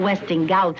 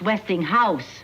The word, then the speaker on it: Westinghouse: this westinghouse catalogue westinghouse it's not westing gout it's westinghouse house no they are westinghouse